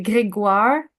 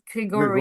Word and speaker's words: Grégoire: you would say Grégoire, not Gregory, Grégoire.